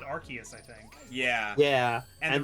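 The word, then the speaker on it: Arceus: multiple different ways yeah the one movie said archus I think yeah yeah and then like go ahead and then like rks is confirmed by the rks system and then Battle Revolution said RCS it's RCS y yeah and I think the reason they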